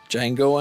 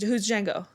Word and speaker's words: Django: Django Unchained. Django. The D is silent.